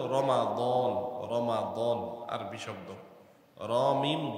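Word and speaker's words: رمضان: দ আলিফ নুন রমাদান যদিও আমরা বাংলা ভাষায় বলি রমজান রমজান মাস মিমের মধ্যে সাকিন দিয়ে পড়ি রমজান শুদ্ধ উচ্চারণ হলো রমাদান রমাদান আরবি শব্দ রীম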